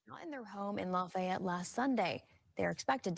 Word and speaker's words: Lafayette: And I'm like, if you're a local, you pronounce it Lafayette, and he's like, I'll pronounce it how I damn well want to pronounce it.